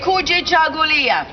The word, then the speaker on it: Kujichagulia: Kuji. Chagu. Lia. One more time. Kuji. Chagu. Lia. Now put it all together and think of a conga. A Kuji Chagu Lia. A Kuji Chagu Lia.